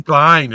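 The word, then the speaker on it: Kline: nome é Kevin Klein acho que é Klein pronúncia Kevin Kleine exatamente genial maravilhoso um ator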